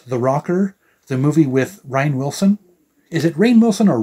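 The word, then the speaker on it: Rainn Wilson: Rocker the movie with Ryan Wilson is it Rayne Wilson or Ryan Wilson it's spelled like it should be pronounced Rhine not rain but anyway rain Wilson and uh titty Geiger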